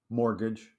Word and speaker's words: mortgage: yeah you got it there's a t in mortgage that's silent it's mostly silent yeah say it mortgage I didn't hear one t more Gage anyway yeah the t